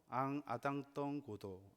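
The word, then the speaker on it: En attendant Godot: 아이 작품의 프랑스 원제가 재밌는 발음인데요. 앙 아당덩고도 이렇게 말합니다.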